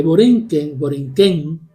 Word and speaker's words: Borinquen: También plantea en ese libro de Américas que Borinquen, con acento en la N, porque esa N en el lenguaje arauco es un plural.